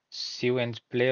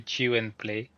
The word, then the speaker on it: Chew and Play: Oh, by the way, is your name pronounced Sue and Play or Chew and Play? So, that's a very fun story. When I created this channel, it was supposed to be Chew and Play, but I misspelled it.